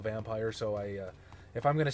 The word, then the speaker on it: Vampyr: Venus so it is pronounced vampyre I I had heard the developers pronounced it vampire but you know like